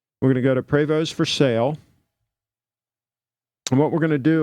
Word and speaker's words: Prevost: Look at a Prevost. Some people pronounce it Prevost, but it's supposed to be Prevost.